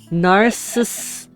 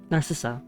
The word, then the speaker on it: Narcissa: S I keep saying it wrong hold on narcissis narissa Narcissa The Parlor fireplace I'm being singing iwi I